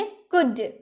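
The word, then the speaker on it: could: क्योंकि कुल्ड एल का उच्चारण तो हुआ नहीं तो हम ल क्यों लगाएंगे? हम बोलेंगे कुड।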